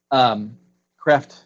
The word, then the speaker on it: Kreeft: work on the cross Kreeft says I'm told that's how you pronounce a crap ma Kraft